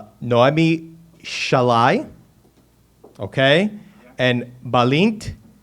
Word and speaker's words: Sallai: Now, I got their names here, and I'm going to pronounce them correctly. Noemi Shalai, okay, and Balint Garoshi.